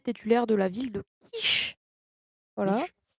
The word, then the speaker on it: Kish: C'est, la divinité titulaire de la ville de Kish. Voilà. Quiche? Comment Quiche, s'écrit ouais, quiche? comme, pas comme la quiche justement, Ouais, je me suis douté, c'est pour ça avec que je avec un K.